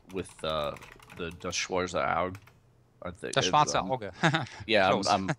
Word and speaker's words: Das Schwarze Auge: Das Schwarze Auge. Yeah, I'm mispronounced.